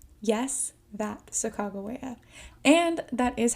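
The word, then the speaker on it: Sacagawea: the shishoni tribe is a young woman named sagaa yes that Saga and that is how you say her name it is not sakaia it is sagaa without her help the ls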